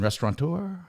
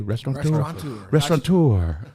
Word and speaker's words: restaurateur: Restaurateur. How did I do? Restaurateur.